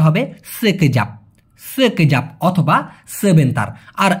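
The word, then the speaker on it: sekejap: অথবা সেতার অনেকে বলে না ভাই মূলত সঠিক উচ্চারণটা হবে সেকেজাপ সেকেজাপ অথবা সেভেন তার আর এই লাগি মানে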